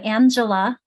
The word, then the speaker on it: Angela: Angela We say Angela because we make that a just sound because of G.